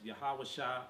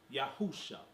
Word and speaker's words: Yahawasha: Or when I say the name Jesus, I usually mention it also in Paleo Hebrew, pronounced by me as Yahawasha or by some others as Yahusha.